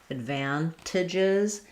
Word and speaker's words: advantages: Advan. I'm going to release and stress on the van syllable. Letter A says the A sound, just like in the word van. Advantages.